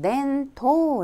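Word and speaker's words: 伝統: 그래서 " 전통 " 은 " 덴토 " 라고 발음 합니다 .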